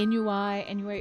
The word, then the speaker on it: ennui: Every time we see ennui, it's ennui. It's actually how it's pronounced, and I have to say it because Nord was the one that corrected me.